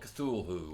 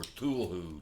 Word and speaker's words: Cthulhu: to review is the call of cthul who or tul who tul who however you want to pronounce it I call it cthul who you get your